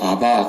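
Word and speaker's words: אבא: 아빠라는 말이 아람어로 아바 그래요. 아바. 우리 한국 사람들이 매운 고추를 많이 먹어서 좀 발음이 세게 나오면 아빠.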